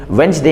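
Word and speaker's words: Wednesday: जैसे वेडनेसडे में वेंसडे हम लोग कहते हैं तो डी साइलेंट होता है।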